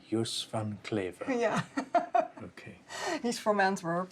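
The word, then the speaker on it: Joos van Cleve: I've been calling him Yuse Van Cleave in a very English way. How should I pronounce it? Yusfan Claver. Yanclaver.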